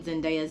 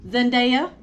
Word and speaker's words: Zendaya: was paula patton mispronouncing zendaya's name you cannot bring blame that on a teleprompter miss mamas you cannot um her name is pronounced zendaya okay not zendaya so yeah and now